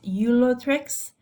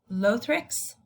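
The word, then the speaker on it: Ulothrix: about those specific examples there's different ways to pronounce this the british way is eulatrix and the american way is to pronounce it as lothrics these are going to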